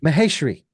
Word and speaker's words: Maheshri: program thank you and I believe I mispronounced your last name that's Mahar Mah mahash mahash mahesri right mahesri thank you for being